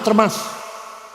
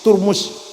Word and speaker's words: Termas: University hanya orang Mesir Enggak tahu aturmusi bacanya aturmusi turmus termas itu Mas bukan turmus Syekh Yasin Padang mensyarahi